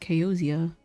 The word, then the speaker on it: Kayozia: And that's why I call myself Keoza because, like, that's the name I know. But it's technically pronounced Keozia.